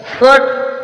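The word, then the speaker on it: fought: पर जी साइलेंट है फट फोट मींस लड़ा जी साइलेंट फाइट फाइट मीस युद्ध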